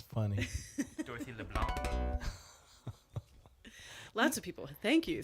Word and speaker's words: LeBlanc: Yes, he pronounced the C, Dorothy. That's funny. Dorothy LeBlanc.